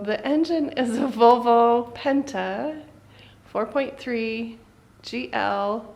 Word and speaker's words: Penta: Volvo Penta? No R in it. You say Washington too? Say the name of the engine. Volvo Penta. Penta.